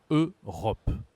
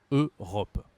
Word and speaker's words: Europe: a l'Europe l'Europe l'EUR attention ici la prononciation on dit e u ça se dit e en français Europe Europe d'accord en anglais c'est différent Europe en français c'est Europe d'accord pourquoi pourquoi l'Europe il